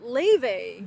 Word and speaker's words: Laufey: It's Laufey. No, it's Laufey. Laufey, Laufey. And then they're like, oh, it's pronounced Laufey.